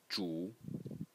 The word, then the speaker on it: 主: is led by the Title Character which is pronounced Jew and today means main Master host Lord landlord